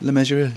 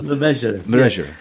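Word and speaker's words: Le Mesurier: Now, how do you know how to say it? Lemessurier. John Lemessurier, yeah. It rhymes with treasurer.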